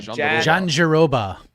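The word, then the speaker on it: Jandiroba: Jan Deir Mike, how do I pronounce this name? Janeroba.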